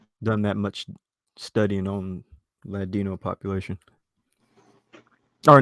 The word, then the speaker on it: Ladino: Did I say that right? Is there Yes, a link Ladino. between? Wait, say that again. It's Ladino. You said it right.